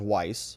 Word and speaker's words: Weiss: One named Leo Wise, which is very closely phonetically related to Weiss, but it's not the same. It's Wise versus Weiss.